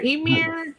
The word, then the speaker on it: Ymir: Ymir? How do you pronounce that again?